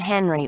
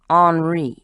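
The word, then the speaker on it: Henri: belon by the way it's not Henry or Hank he goes with the French pronunciation hry bully for him bence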